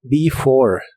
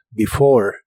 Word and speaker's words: before: before que significa antes la primera e se pronuncia como I y la última e no se pronuncia before before y usaremos la palabra